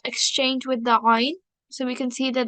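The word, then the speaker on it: ع: If it comes from the middle, that is ayn, and we do not need to get confused with that. So I'll just highlight it again. Ayn, sound which is pronounced from the middle of the throat.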